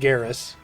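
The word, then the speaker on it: Gaheris: It's spelled Gaharis, but said Garris.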